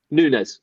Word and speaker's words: Nunes: I'm going to say Navas, and it's not Navas. I always call him Navas. Nunes, sorry.